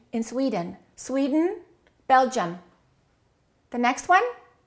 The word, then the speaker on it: Sweden: Two syllables. Which one is stressed? The first one. Okay. What happens to the second one? Sweden. Sweden. Sweden. So don't say I am from Sweden. Say I'm from Sweden.